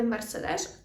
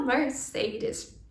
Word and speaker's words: Mercedes: Тут ми можемо звернути увагу на вимову бренду Mercedes, так? Це не Mercedes, а Mercedes.